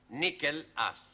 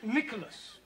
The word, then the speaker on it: Nicholas: Once upon a time, there was a man called Nickel Ass. It's not quite right. No? No. Once upon a time, there was a woman called Nickel Ass. It's pronounced Nicholas.